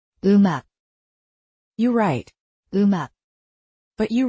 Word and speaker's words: 음악: For example, 음악, music links its batchim over and sounds like 음악, you write, 음악, but you read. 음악.